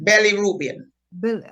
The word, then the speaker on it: bilirubin: how do you say is it Billy Reuben or bilirubin bilirubin okay and that is to